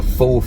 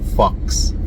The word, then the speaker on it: faux: It's a faux finish, not fox finish, like what I was saying before.